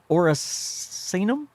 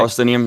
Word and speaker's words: Orsinium: It's called Legacy, and I know I'm going to mispronounce this. It's about the orcs. Oricinium? Did I say that right? It's the metal. Anyway, Orsinium, yeah.